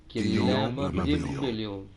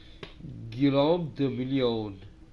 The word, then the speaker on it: Guillaume de Million: Guillaume de Million. If it doesn't rhyme, you're not pronouncing it right. Guillaume de Million.